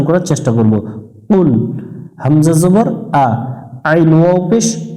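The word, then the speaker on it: قُلْ: এটা জেহব্বার গোড়া থেকে একটু মোটা করে উচ্চারণ করতে হবে পাতলা করা যাবে না এখানে আমরা অনেকজনেই পাতলা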